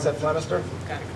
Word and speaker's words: Flemister: And we have ADA India James Flemister, as well as, I'm sorry, did I mispronounce that, Flemister?